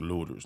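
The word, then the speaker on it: Lueders: Not the Luetta part. The Lutters. Lutters. We just pronounced it looters. Not Lu. I know you see that E in there, but it's just Lutters.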